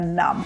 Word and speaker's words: numb: звичайно ж пісня Нам в перекладі Це онімілий або ж знесилений запам'ятайте що у цьому слові не вимовляється літера B Саме так як і